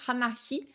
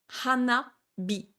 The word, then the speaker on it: hanabi: Hana pour la fleur, Hi pour le feu, Hanahi, vous voyez, c'est hyper dur à prononcer, Hanahi, ça sort pas du tout naturellement en bouche, ça se transforme en Hanabi, Hanabi. Donc le H en japonais, hein, il se transforme en B quand il prend des tenten.